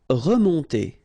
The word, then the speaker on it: remonter: Remonter. Okay, first re, and then nasal here, on, on, remonter, remonter.